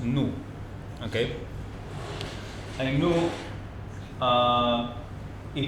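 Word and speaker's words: 怒: This Chinese character here is pronounced new.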